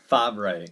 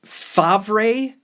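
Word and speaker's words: Favreau: based on him and I have a hard time pronouncing this actor / director / writers last name John Fabray it's Fabra Fabray I'm not through real no it's French it has to be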